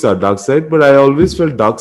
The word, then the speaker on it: Darkseid: side or dark seed? Side, side. It's pronounced dark side. It's spelled dark seed.